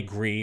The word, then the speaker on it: Gris: I think it's called Gris. It's spelled G-R-I-S.